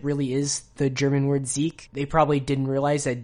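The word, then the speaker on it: Sieg: are pronounced like z's g's at the end of words are pronounced like k's or like either either one it depends on the dialect but you could pronounce it as zeke or if you just want to give it like the most obvious like transfer to english you'd say jig both of them are acceptable but if it's ever written out is s-i-e-g then you'd probably want to pronounce it zeke so kumo numa kumonoma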